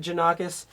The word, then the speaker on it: Janakos: I pronounce it Janakos.